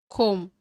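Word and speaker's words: comb: கோம் சீப்பு, கோம் சீப்பு. பி வந்து சைலண்டாக தான் ப்ரொனவுன்ஸ் பண்ணும். காமிக் நகைச்சுவை, காமிக் நகைச்சுவை.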